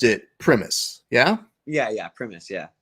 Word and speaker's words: Primus: and I know I've mispronounced it but you pronounced it premise yeah yeah yeah premise yeah okay how often do you get primus oh and I was like whatever because let